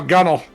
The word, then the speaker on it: gunwale: They're like, no, gunnel.